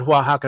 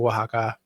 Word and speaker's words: Oaxaca: So I think that's where the you said Oaxaca is spelled strangely. And I think that's why, because the X is actually like an H sound.